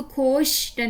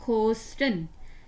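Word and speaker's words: Kosten: खोस्टन, इसको खोशटन नहीं बोलना, इसको बोलना है खोस्टन। सिर्फ शुरू में आता है ना एस थे, फिर श बनता है, शिटा, स्टा, स्टे, लेकिन दरमियान में तो फिर सीन ही, खोस्टन।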